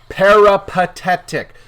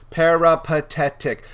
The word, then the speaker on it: peripatetic: a few more words peripatetic peripatetic four syllables you can say each of those separately and you can mash them all together now you know about